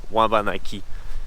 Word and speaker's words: Wabanaki: Donc, mettons, Abénaki en abénaki, ça se prononce Wabanaki. Ça s'écrit W8 Anaki.